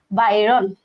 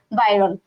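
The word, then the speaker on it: Byron: তাহলে আমাদের এই যে কবিতার যে কবি সেই কবির নাম হচ্ছে লর্ড বাইরন, উচ্চারণ হবে এটা লর্ড বাইরন।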